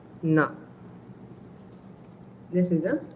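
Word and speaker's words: ন: All of these are pronounced from your teeth. So your tongue is touching your teeth uh when you're pronouncing them.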